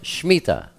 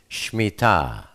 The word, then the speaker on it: Shemittah: Most people call it the Shemittah, but the proper pronunciation is Shemittah.